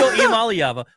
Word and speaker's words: Iamaleava: It's Nico Iamaleava.